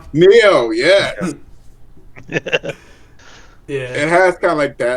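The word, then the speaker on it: Nioh: It has the Ghost of Tsushima look, and also kind of like that Noi look. How was it pronounced? Neo.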